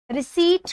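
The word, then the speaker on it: receipt: रिसीट में एक letter है जो ऐसा है जो साइलेंट रहता है। रिसीट है ये, रिसीट में पी लिखा जाता है लेकिन बोला नहीं जाता। इसका राइट प्रोनाउंसिएशन रिसीट होता है, रिसीट।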